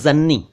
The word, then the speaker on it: जननी: और जन्नी एक शब्द है जिसका सही उच्चारण जननी है, जननी। और जननी का अर्थ आप जानते हैं, जन्म देने वाली यानी माँ। तो जन्नी अलग है और जननी अलग है।